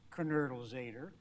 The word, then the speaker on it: Knoedelseder: For anybody who's wondering, my name in German is pronounced Knoedelseder.